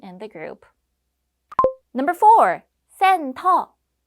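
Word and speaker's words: 센터: the group number four sen tall this is the Korean pronunciation of Center if you're a centaur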